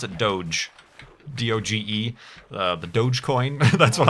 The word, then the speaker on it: Doge: It's pronounced dog. It's just the spelling that's weird, Kurt.